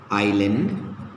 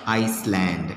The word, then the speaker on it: island: of letters like yes s as silent in i i s l e i island etc okay i island okay where s is silent you can't pronounce it as iceland it should be island okay next we have